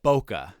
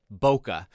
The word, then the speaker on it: Bokeh: and charting it's called bokeh I don't know if that's how you pronounce it that's how I always pronounce it it's b o k h bokeh and bokeh is a